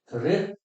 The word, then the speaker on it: ऋ: ऋ, जीव को ऊपर जाके तालु से लगाएंगे तो मूर्धन्य होगी। वैसे जब व्यंजन पढ़ेंगे तब देखेंगे क्या वर्ग भी मूर्धन्य होते हैं। ऐसे ही इसका उच्चारण होता है ऋ।